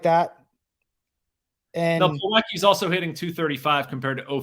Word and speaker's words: Plawecki: And Plawecki's also hitting 235 compared to 059 for Heineman.